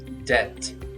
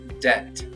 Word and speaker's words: debt: debt debt He is trying to pay off his debt.